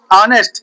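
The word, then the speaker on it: honest: लिखते हो एच ओ एन ई एस टी और पढ़ते क्या हो? ऑनेस्ट और कुछ लोग हनेस्ट पढ़ते हैं। कुछ लोग हनेस्ट पढ़ते हैं। कुछ लोग ऑनेस्ट पढ़ते हैं। तो एच साइलेंट रहता है।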